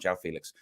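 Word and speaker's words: João Félix: then suddenly kg came in said I want Joe Felix or I spoke to Paulo last night Jeff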